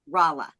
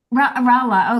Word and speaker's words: Rala: know, my name is pronounced, it's like a cheer for LA, Ra and La, Rala. Rala.